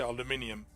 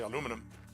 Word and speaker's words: aluminium: my first stream because in Europe we say aluminium United States we say aluminum and when I did